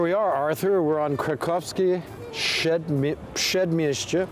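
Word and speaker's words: Kraków: in it that's why to say it correctly it's Krakov square said mixture Street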